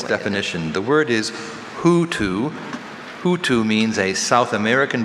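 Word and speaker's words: houtou: Hutu, can I have it in a sentence?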